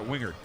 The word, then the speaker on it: Wingard: And he said, yeah, you pronounce that Wingard.